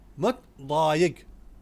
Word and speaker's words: متضايق: In متضايق, the letter ضاد is a difficult letter. If you cannot pronounce it in its way, then you can use D letter. You can say متضايق.